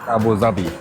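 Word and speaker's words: أبو ظبي: It's pronounced Abu Dhabi.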